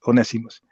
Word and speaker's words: Onesimus: So anyway, that's Onesimus, right? Who Tariq said once, but I know he's talking about and his name is spelled like that, but it's Ones Onesimus.